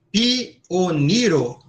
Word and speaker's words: pioniro: Esta aqui, pioniro, cada vogal é uma sílaba. Pioniro. Então, a acentuação é no ni, certo? Não é ni, é ni, certo?